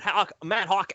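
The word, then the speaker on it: Haack: He's gonna get Matt Hawk out of here, and I'm gonna actually say his name the way that it feels like it's spelled, Matt Hack, because he's a hack,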